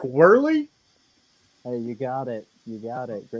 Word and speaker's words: Wehrley: mess up your name i i suck at pronunciations but derek whirly hey you got it you got it you